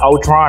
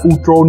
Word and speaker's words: Ultron: Còn đúng tiếng Anh cái chữ Ultron nó là chữ U và L mình đọc là O, còn chữ còn lại chính là Tron thì mình đọc nhanh lên là Ultron, chứ không phải là Ultron nha cam cam.